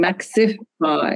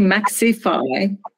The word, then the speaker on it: Maxify: maxif y a sorry you keep saying Maxi Phi yeah it's maxify yes but uh but it's spelled Max V or Max pie maxify yeah yeah maybe it's just my pronunciation but there's no I between X and F yeah yeah I I